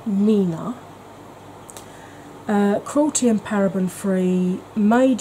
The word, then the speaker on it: 3INA: It's 3INA, pronounced Nina.